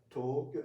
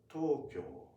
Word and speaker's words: Tokyo: Tokyo even if you say Tokyo may they may understand. Okay we may understand but if you say Tokyo that sounds very different.